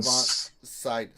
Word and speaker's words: Sydow: Max von Sydow. Some say Sydow Yeah. or Sydow.